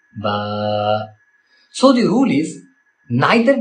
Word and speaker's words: ب: The next letter is ba. First of all remember we should not pronounce it as b because it is in udu accent and in Arabic it is simply ba also don't stretch it